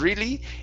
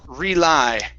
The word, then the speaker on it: rely: the very first time instead of really it's rely rely ah yeah the second